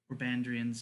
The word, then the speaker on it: Orbandrian: this is kit speaking if i pronounce that wrong that's on me because i'm terrible at dragon names it's not always his name you said it correctly orbandrian oh great and powerful